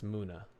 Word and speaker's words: Muna: Moon and Luna. So yes, Muna.